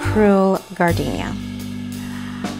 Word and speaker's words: Cruel Gardénia: Let's start with Cruel Gardenia. I'm pronouncing it in English.